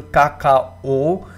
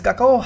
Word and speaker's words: Kakao: Now this is a very difficult name to pronounce. I will pronounce it as Kakao.